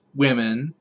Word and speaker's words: womxn: latinx but for women it's allegedly pronounced women but there's no way in any way that english works that it's pronounced wim xen that's not pronounced with